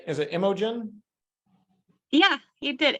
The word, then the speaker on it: Imogen: are you doing well did I did I pronounce your name right is it Imogen yeah he did Imogen um okay and I'm guilty of mispronouncing your